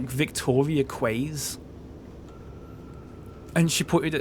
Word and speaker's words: Quay: And she said, "Like Victoria Quays." And she put it at a signpost for Victoria Keys, you know, like keys, Quays. Apparently that's just not an American word. Quays.